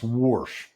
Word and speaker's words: Warsh: That tug-of-war gets its next round Thursday through Saturday the Jackson Hole Symposium in Wyoming where the new Fed chair Kevin Warsh, pronounced Warsh, gives his first keynote Friday morning.